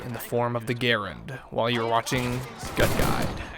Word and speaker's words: Garand: To clarify my point, the name of the weapon is pronounced Garand, like errand, not Garand.